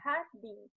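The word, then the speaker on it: jardín: No espanhol, o J, ele tem sonzinho de R, então fica jardim.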